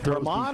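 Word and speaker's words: Germán: German or German? It's got an accent. They said German on ESPN. German, okay.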